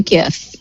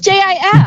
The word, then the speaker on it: GIF: If you're pronouncing it with a J, it's not graphic.